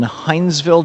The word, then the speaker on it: Hinesville: Danette in Hinesville, Georgia.